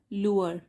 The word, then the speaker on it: lure: तो अब क्या हुआ, ये वर्ड है, इसको प्रोनाउंस करेंगे हम लूअर। तो LURE, लूअर, और डी लग गया लूअर्ड।